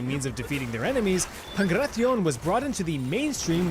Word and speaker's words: Pankration: Transitioning now from Greece to Greece, we have the downright brutal Pankration. What, you pronounced it pancration? You silly.